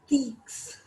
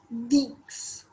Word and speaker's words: dix: Then we have 10, which is written as Deeks, DIX, Deeks.